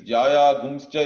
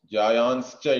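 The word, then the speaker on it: ज्यायांश्च: Again, this Jaya Gumscha is Jayan Cha. That becomes like that. When pronounced Jayanscha, it will become in regular Sanskrit. And then while chanting, we say Jaya Gumscha. But there is no Gakara or all that there. That is simply a chanting rule, or how we chant it.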